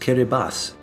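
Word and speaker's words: Kiribati: to add you know that that's pronounced kir Bas interesting what are they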